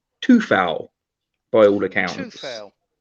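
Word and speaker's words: Coufal: So we had obviously Fabianski in goal, Kufal, or actually no, I'm pronouncing it wrong because there was the West Ham awards yesterday, and the man himself has said that it's pronounced Tufal by all accounts.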